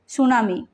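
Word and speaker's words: tsunami: প্রসুডি literature বনিমাখান যাহা জাপানি word সুনামি নোহারে টি silent আর যাহা ওয়ার্ড মেনে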